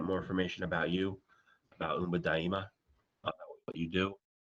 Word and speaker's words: Umba Daima: uh in Swahili uh you can also say Umba daima is the Swahili pronunciation um you can also